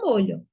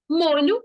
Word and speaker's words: molho: nos dois casos mas a pronúncia de molho e molho são diferentes por isso que a